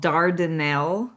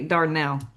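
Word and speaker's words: Dardanelle: and it's called it's it's actually called Dardell, Arkansas, but we don't say that in Arkansas. We say Darnell. Darnell. Darnell. So, you would think it was just two syllables, but she's not. But if you were to say Dardell, everybody would know you're not local.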